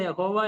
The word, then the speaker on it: യാഹ്വെ: അതുകൊണ്ട് യഹോവ ഒരു ശരിയായിരിക്കുന്ന ഉച്ചാരണമല്ല. എബ്രായ ക്രിയകളുടെ അടിസ്ഥാനത്തിൽ വ്യാകരണ നിയമം അനുസരിച്ച് യാഹ്വെ എന്ന് പറയുന്നതായിരിക്കും ഈ വൈ എസ് ഡബ്ലുഎച്ച് എന്ന് പറയുന്ന ആ വ്യഞ്ജനാക്ഷരങ്ങളെ ചേർത്ത് അതിനോട് അതിന് അതിനോട് എബ്രായ സ്വരാക്ഷരങ്ങൾ ചേർക്കുമ്പോൾ അങ്ങനെ വായിക്കാൻ ആയിരിക്കും വായിക്കുന്നതായിരിക്കും ശരി എന്നാണ് പൊതുവേ വേദപണ്ഡിതന്മാർ അതിനെക്കുറിച്ച് പറയുന്നത് എങ്കിലും നമുക്കറിയാം നൂറ്റാണ്ടുകളായിട്ട് യഹോവ